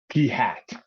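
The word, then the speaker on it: p̂: guy right here and that is pronounced P hat so we'll see that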